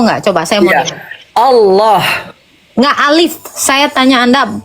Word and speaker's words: Allah: Enggak coba saya mau Allah enggak alif.